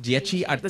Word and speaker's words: Dieci Artisti: Dieci Artisti. Is that how you say it? You're one of the Dieci? How is it? How do you say it? Dieci Artisti. The 10 artists. 10 in Italian.